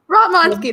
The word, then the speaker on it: Ratmansky: Rotmansky, that's how you pronounce it.